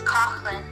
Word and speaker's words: Coughlan: 17 is Coughlan. Say it again. 17 is Coughlan. Coughlan. Because there is H. Silent G.